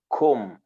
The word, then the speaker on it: comb: say kombin right because there is a b but you don't pronounce the b you have to say